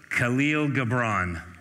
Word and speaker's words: Khalil Gibran: Pronounced Khalil Gibran.